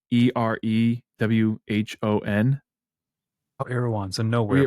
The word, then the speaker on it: Erewhon: It's spelled like EREWHON.